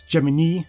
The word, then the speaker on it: Gemini: Yes, Gemini, not Gemini, that's how her name is pronounced.